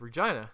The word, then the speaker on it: Regina: from my city of Regina the city that rhymes with fun the um they they